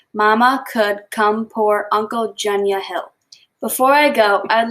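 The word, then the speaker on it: Mamungkukumpurangkuntjunya Hill: The city is pronounced Mama Could Come Pour Uncle Junya Hill.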